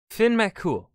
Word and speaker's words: Fionn Mac Cumhaill: little complicated the story of finn mccool yeah finn mccool why have the um why okay i can